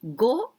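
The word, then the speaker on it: 五: and the last one the longer one and go it means a five so this is like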